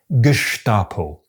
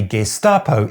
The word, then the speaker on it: Gestapo: This puts the ST in the onset of the second syllable, and so logically, according to the usual phonotactic rules, the word should be pronounced “Geshtapo”.